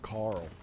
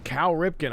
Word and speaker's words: Cal Ripken: still laughing at myself calling him Carl I don't know why I put an r in there Carl I almost said it again Cal Ripken I was trying to